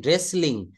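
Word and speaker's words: wrestling: হচ্ছে কে তারপর দেখেন রেসলিং রেসলিং শব্দের অর্থ হচ্ছে কুস্তি রেসলিং শব্দের অর্থ কি বলেন তো কুস্তি এখানে ডাব্লিউ থেকে শুরু করবো না এই আর থেকে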